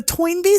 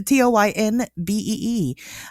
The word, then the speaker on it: Toynbee: I couldn't even spell that if you asked me. No, Toynbee. So it's Toynbee.